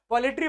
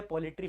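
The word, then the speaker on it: poultry: थाला फॉर the reason, पोल्ट्री farming is undertaken to raise following. क्या काम के लिए पोल्ट्री फार्मिंग की जाती है। तो पोल्ट्री बोल देता हूं बट एक्चुअल प्रोनाउंसिएशन पोल्ट्री होता है।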